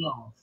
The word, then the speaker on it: love: leal, of your unfailing love. Ok? Então, word. Third, love. Olha a pronúncia. Love. A letra E no inglês, no final das palavras, geralmente são mudas. Love.